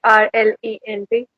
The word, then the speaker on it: parlent: ENT is not pronounced at all. It's just pronounced as in this.